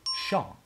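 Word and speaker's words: 上: hear native speakers say Sean and Li both pronounced with a neutral tone like in order my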